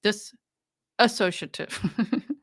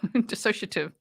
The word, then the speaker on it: dissociative: PTSD cptsd did this this associative no no no dissociative I was like no